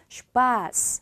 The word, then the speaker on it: Spaß: 그럼 여기는 이 단어는 SP로 시작을 했기 때문에 슈파스 하고 발음이 되겠죠.